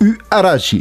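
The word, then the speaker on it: Huarache: y a quelques années, la URH se prononce Uarashi, c'est la vraie première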